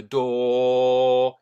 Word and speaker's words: door: In open the door. Don't pronounce the R at the end.